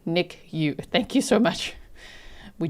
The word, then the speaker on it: NICU: Nicu is pronounced Nick U."